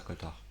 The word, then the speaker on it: coaltar: Ça s'écrit donc comme ça, coltar. Ah ben, j'aurais pas mis le A. Ça s'écrit C-O-A-L-T-A-R. Coasser, pousser son cri, coassement.